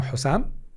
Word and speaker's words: حسام: لم أكن مستعدًا أبدًا للتخلي عن هويتي فأنا حسام وأنا أبذل الجهد اللازم للتعريف بنفسي أمام الناس عندما ينطقون اسمي فكل أصدقائي لا ينادونني باسم سام